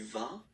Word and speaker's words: vas: Basically, you pronounce it like for the tu because you don't pronounce the final S, okay? Il va, elle va, okay? Je vais, tu vas, il va, elle Elle va.